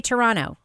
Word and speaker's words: Toronto: say it guys say Toronto do not pronounce a second te you don't pronounce second T not if you're a